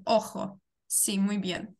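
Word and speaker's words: ojo: Це не G, це не англійська, це літерка хота. І я зараз повернуся, щоб ми от пригадали собі літерку хоту. Літерка хота завжди читається. Як глухий Х. Як глухий Х. Повертаємося, читаємо, як буде око. Охо. Охо, сі, охо, око.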